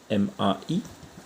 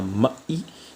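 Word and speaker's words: มา: deux mots sont ma M a attention c'est ma et non pas mai qui veut dire carrément autre chose mai c'est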